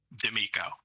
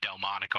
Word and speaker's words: D'Amico: correctly let's start there d'amico i think someone said delmonico i thought of a steak at first but that's okay well